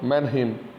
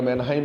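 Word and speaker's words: Mannheim: Herbert Spencer, हॉबाउस, Westermarck, मैनहिम, कई बार मैनहाइम भी कहते हैं कई लोग, उसमें अलग अलग लिखा हुआ होता है, वो प्रोनाउंसिएशन की बात है, उच्चारण की बात है।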